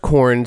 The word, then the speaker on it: Korn: Like you eat it. It's pronounced corn, spelled Corunne. Oh, interesting. A Slavic version, corn.